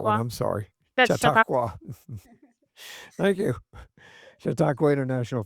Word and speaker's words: Chautauqua: Uh, I can't even pronounce that name, so I'm gonna have to skip that one. Chautauqua, I'm sorry. that's Chautauqua.